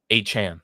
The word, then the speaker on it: Achane: Achane.